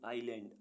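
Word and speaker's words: island: न्यूमोनिया निमोनिया means ज्वर ऐसे word जिनमें एस साइलेंट रहता है आई एस एल ए एन डी आइलैंड आइलैंड means टापू आई एस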